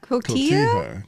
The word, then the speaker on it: Cotija: Cotija.